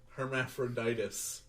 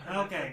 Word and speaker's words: Hermaphroditus: I'm sure it's not as bad as Hermaphroditus. Yeah. Not hermaphrodite. Okay. All right. I messed up a syllable. The very end.